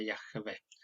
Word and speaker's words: Yahvé: Aquí está la yod, ya, la vocal A, Yah. Esta es muda. Se llama Shua. Yah de la Vav, Yahvé. Es una E. La última no se pronuncia cuando no tiene un punto en medio, entonces sería Yahvé.